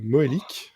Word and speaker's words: Moellic: Robin Moélique, c'est ça, je me trompe pas. C'est c'est ça tu bien prononcé voilà parce que ça aurait pu être Moalic hein si jamais tu es d'origine polonaise.